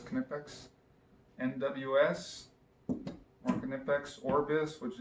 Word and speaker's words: Knipex: to pronounce Knipex, but I'm pretty sure in German the K is not silent, so I'm just going to pronounce it as Knipex.